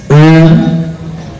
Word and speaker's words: ओम: ओम जिसमें ओ छोटा मकार लंबा है।